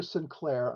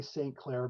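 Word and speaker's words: St. Clair: claire it's pronounced arthur sinclair i often say saint claire but he did pronounce it at the time as sinclair okay so sinclair that's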